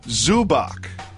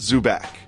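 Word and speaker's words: Zubac: mover soft mood Jalen his name is Goran zu Bock not zu back boss mover Soph move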